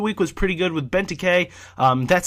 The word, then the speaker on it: Benteke: I mean, this week's Team of the Week was pretty good with Benteke. That's how you guys told me how to pronounce it.